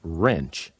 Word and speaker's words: wrench: here's another one WR when a word begins with W R the W is silent like the word wrist